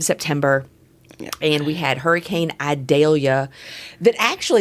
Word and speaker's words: Idalia: And so Hurricane Idalia, and the only reason I ever remember how to pronounce it properly is we have a little town just to the south of us called Vidalia, and so every time